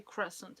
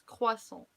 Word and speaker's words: croissant: So like you guys say croissant, but please don't say croissant anymore. It's croissant, croissant, croissant, croissant.